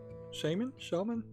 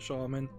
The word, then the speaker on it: shaman: So today we'll be looking at the Shaman? Yeah, it's Shaman. No W. I looked it up. You don't pronounce it Shaman, although a lot of people seem to think you do.